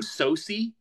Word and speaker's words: Sosie Bacon: Sosie?